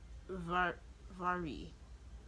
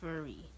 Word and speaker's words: Vihari: Yeah, so I found out that the author's name is pronounced um uh Vari. Yeah, Vari. It's pronounced like that because I don't know, that's how it's pronounced. Yeah, so Vari. So it's not pronounced with an M, it's pronounced with a V.